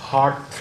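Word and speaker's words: HAART: जो मेडिकेशंस हैं उसमें आपने याद रखना है we have the famous हार्ट therapy.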